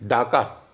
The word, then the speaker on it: Dacca: उसकी स्पेलिंग थी डाका, DACCA। अच्छा, DA, हाँ। क्यों डाका? क्योंकि वो डाका ही बोलते थे। भले बंगाली लोग उसको ढाका बोलते हो, उनको डाका ही बोलना, दोनों स्पेलिंग से डाका।